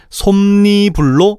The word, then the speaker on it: 솜이불: 따라서 솜이 불이 아니라 니은이 참가된 솜니불로 발음해야 되는 거야. 물론 표기는 솜이불이지.